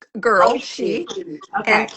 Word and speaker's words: Oishi: Oh, and it's pronounced Oishi.